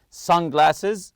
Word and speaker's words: sunglasses: accessible from front compartment sunglasses also the word Sun you have to stress the first part here some people like